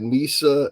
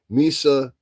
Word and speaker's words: Misa: I don't like the fact that Nissa and Justin are being excuse me Misa and Yeah, I'm saying it right.